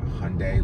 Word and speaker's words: Hyundai: And their bio at some point said Hyundai, pronounced Hyundai like Sunday.